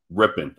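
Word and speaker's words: Rypien: situation I think it's going to be Brett ripen or however you pronounce his name uh yeah ripping okay thank you I think he had a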